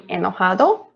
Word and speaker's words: enojado: be angry and excited so it will be enojado this one sounds like a hotdog so it sounds like j for spanish always sounds like a ha so how we laugh